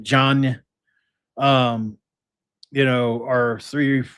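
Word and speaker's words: Diagne: Reynolds, Chams, John, uh, which is spelled D I A G N E by the way. He's like diagnosed like John.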